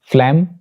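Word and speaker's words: phlegm: एक और रूल जी का ये है कि जी इज not pronounced before M, यानी जी एम से पहले भी प्रोनाउंस नहीं किया जाता, वो साइलेंट होता है। मिसाल के तौर पर डायफ्राम, फ्लैम एंड पैराडाइम, तो यहां पे जी will be silent because it is coming before M.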